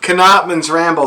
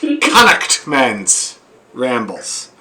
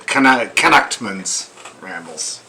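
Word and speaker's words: Connaughtman's Rambles: not pronouncing it correctly the correct pronunciation as reminded to me by my friend brian every time i say it is connect men's rambles connectments but when he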